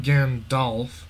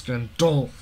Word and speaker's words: Gandolf: It's not Gandalf, it's Gandolf. I know regular Gandalf is spelled with an A instead of the O, but we're doing different.